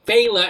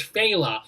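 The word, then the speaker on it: Fela: that person i'm sorry i was mispronouncing bayla as fella sorry oh okay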